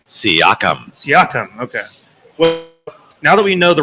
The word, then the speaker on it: Siakam: and pascal what's what's that how do you pronounce that last name siakam now that we know the rundown of the